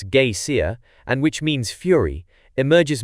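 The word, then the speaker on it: Geysir: ft above the swell the Geer a word the icelanders pronounce Gaya and which means Fury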